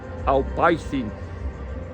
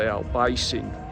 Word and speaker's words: Albaicín: it really, which is called, by all accounts, pronounced Albaicín. So we would say Albaicín, but it looks something like that.